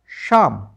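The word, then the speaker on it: psalm: पाम क्योंकि एल तो silent है। और पाम का मीनिंग होता है हथेली। पी एस ए एल एम शाम।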